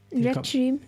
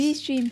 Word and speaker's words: Restream: Restream. Think of it like 2 words.